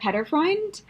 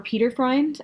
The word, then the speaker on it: Peterfreund: My book number 5 for Top 5 Futuristic Books is Across a Star-Swept Sea by Diana PETERFREUND, or PETERFREUND. I think those are both acceptable pronunciations from her website.